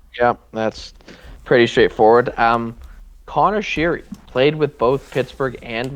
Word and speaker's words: Sheary: I also can never remember if it's Connor Sheary or Connor Sherry because I know he changed his pronunciation like halfway through his time with Pittsburgh, and I can't remember what the What proper it one was. is. I Well, believe it's Connor Sherry now.